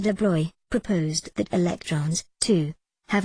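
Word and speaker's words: de Broglie: acting like a wave de Blois pronounced de Blois proposed that electrons to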